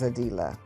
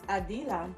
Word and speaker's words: Adilah: Well, my name gets pronounced so many different ways, but it is Adilah. It is Adilah.